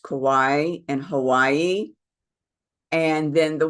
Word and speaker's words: Kauai: There is a very famous Hindu temple there on this island of, I think it's pronounced Kauai in Hawaii.